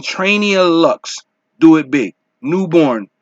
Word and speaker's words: Newbourne: Newborn featuring Trainia Lux. Do It Big. Newborn. And it's spelled Newbourne.